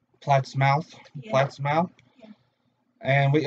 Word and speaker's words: Plattsmouth: Scoops and Mischief out of Plymouth, Nebraska. We'd like to thank them for everything they do. Please pronounce it Plattsmouth.